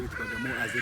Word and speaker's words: Bagamoyo: So when the German came here, they failed to pronounce W because it was Bwaga, which is B-W. Bagamoyo.